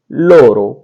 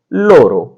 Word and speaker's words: loro: और इसके बाद में आता है वे सब, तो वे सब के लिए आता है लोरो, LORO, लोरो। वे सब के लिए होगा लोरो।